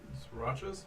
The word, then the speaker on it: Sriracha: name of that game srirachas the srirachas is actually sriracha like this like the sauce no i just can't